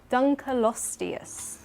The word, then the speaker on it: Dunkleosteus: And that is, oh no, pray for me with this pronunciation, Dunkleosteus.